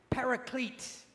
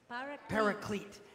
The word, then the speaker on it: paraclete: word translated Advocate is please repeat after me paraclete paraclete not like a parakeet like the bird but uh paracletes okay what is a